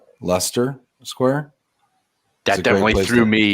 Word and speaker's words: Leicester: Is this pronounced Leicester Square? That definitely threw me. Yeah, you're right, I believe. Yeah, Leicester.